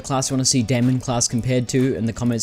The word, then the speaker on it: Daimon: I started pronouncing it demon class I had people tell me it was pronounced the same way that Matt Damon's name is pronounced so um that would be Damon class now please correct me